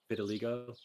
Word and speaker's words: vitiligo: Oh, it's the super white guy with a vitiligo, or however you say it. That's right. Okay. Gotcha. I remember that now. Can you please pronounce that for me? I don't know why. Vitiligo.